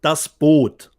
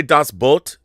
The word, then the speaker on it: Das Boot: in Germany is called das Boot. Not Boot, Boot. So if you say das Boot, that's the proper pronunciation? Correct. Das Boot. Just cut one O.